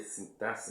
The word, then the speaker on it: sintaxe: Você escreve sintaxe com X, mas você pronuncia sintaxe, né?